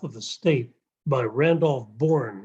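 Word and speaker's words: Bourne: is the health of the state by Randolph born it's spelled b-o-u-r-n-e you could read it online and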